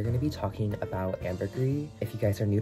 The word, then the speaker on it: ambergris: was i pronounced it ambergris i think that's like a very like americanized like white way of saying this but like it originates from france and it's like properly pronounced as ambergris but this note ambergris